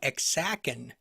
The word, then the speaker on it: Ajacan: And today we're going to talk about a little place known as the Ajacan Mission. And it's interesting that the pronunciation, based on what I read, is Ajacan, but it's actually spelled Ajacan.